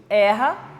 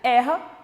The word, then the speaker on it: erra: pronúncia e erro substantivo então eu vou pronunciar esse é de uma forma mais fechada na primeira pronuncio erra na segunda como substantivo e pronuncio erro mais fechada ainda um som vocálico mais mais fechadinho então olha lá o